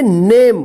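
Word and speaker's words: name: जाएगा जैसे य देखिए एन ए एम ई इसको क्या पढ़ेंगे नेम देखिए नेम में मत पढ़िए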